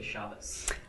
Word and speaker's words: Shabbos: Why do modern people who speak modern Hebrew pronounce Shabbat, and then the Orthodox will say Shabbos?